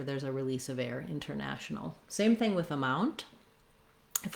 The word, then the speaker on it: international: For example, in a word like international, I either will say it with a true T, international, you'll hear that T. Often you'll hear international. Often you'll hear that said more like international. So this one, international, is not technically correct in the dictionary, but many native speakers use that.